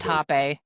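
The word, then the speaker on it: rapé: but it's pronounced hap. Right. Yeah. because the the Portuguese or the Brazilian Portuguese R is ha.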